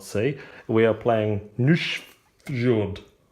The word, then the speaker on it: Nusfjord: see we are playing new short which is the correct way to pronounce Ian Welsh it is